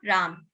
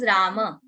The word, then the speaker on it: Rama: that is Hindi pronunciation in Hindi we say half bird Ram that is not Ram that is Rama that is Arjuna and